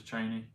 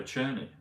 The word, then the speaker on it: Cheney: Liz I think it's Liz is it Liz Cheney um he called her churny Liz churny Cheney 60 but churny is 94